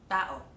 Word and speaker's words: tao: Nonetheless, Filipinos all know that táo is two syllables and will not read it as táo That would be wrong. It’s tá-o.